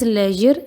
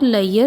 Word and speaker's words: leisure: Try to replace it with leisure time and please pronounce it as leisure and not layer, which many of the students do.